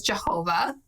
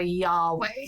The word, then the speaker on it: Yahweh: title not his name the closest pronunciation we have originally we thought it was jehovah yeah for a long time english scholars were committed to jehovah and now we think it's closer to yahweh so you've probably heard